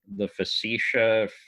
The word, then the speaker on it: Facetiae: It's Poggio, Poggio, and the book is The Facetiae, Facetiae.